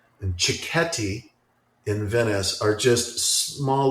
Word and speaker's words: cicchetti: It's spelled really strangely. It's Cicchetti, cicchetti, and I love that we're both writing that down.